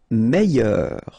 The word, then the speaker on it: meilleur: Meilleur. Okay, same thing here, I, double L, I, meilleur.